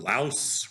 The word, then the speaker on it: Laos: like a 25% tariff on Japan or 25% tariff on Laos rhymes with house.